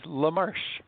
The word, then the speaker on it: LaMarche: name is and my second name is lamarche rush little french-canadian now living in Atlanta